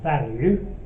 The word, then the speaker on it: Valyu: I'm now getting my shopping delivered from a supermarket called Value, which is spelled Valyu, and they're pretty good actually.